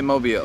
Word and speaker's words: Mobile: up it's mobile okay so locals say mobile yes it's not mobile no it is Mobile Alabama Mobile Alabama now so